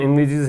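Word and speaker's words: envisage: इन्विजिज, इसका प्रोनाउंसिएशन इन्विजिज है, ये एक वर्ब है, इसका मतलब इमेजिन करना होता है।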